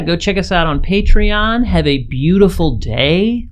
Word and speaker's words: Patreon: that we have a patreon now and it's very exciting I just pronounced it patreon but it's actually patreon so go find us